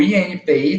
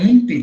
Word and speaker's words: INPI: parágrafo dessa letra E, que a pronúncia não é INPE, tá, pessoal? Não é INPE. Eu já ouvi várias pessoas pronunciando o nome desse órgão, chamando de INPE. Não é INPE, é INPI, Instituto Nacional da Propriedade Industrial.